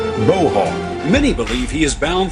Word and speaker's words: Bo: as tough as a boar hog, only they pronounced it Bo Hog.